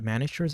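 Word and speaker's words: Manacher's: I believe you pronounce it Manischer's algorithm, and that is linear time complexity, I believe.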